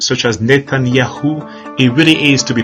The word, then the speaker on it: Netanyahu: So whenever you hear of names such as Netanyahu, it really is to be pronounced YAUH.